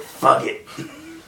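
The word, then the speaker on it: Fugit: from Almost Famous but if you look at the spelling of his name his name is Patrick fugg it and always will be it's like how you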